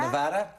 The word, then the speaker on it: Nevada: And how do you pronounce Nevada? Nevada? Yeah, you got it right.